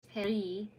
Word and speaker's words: Paris: Corny combinations of words like magazine, Vin, Pain, Paris, pronounced Perry, until they settled on Belleville Cafe, bringing a flavor of the 19th Arondisment to just south of the A1.